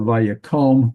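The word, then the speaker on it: וַיָּקָם: Oh, by the way, we have vayaqom because here's the accent mark. That means this qom here is a closed unaccented syllable, so that means this kamats is actually the o vowel, okay?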